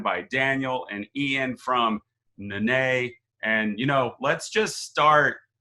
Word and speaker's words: Nané: It's a little bit more awe than it is supposed to be, but it's fine. Nané is how it's said.